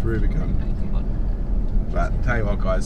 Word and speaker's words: Rubicon: So it's not pronounced Rubicon? No, it's not. No, it's Rubicon.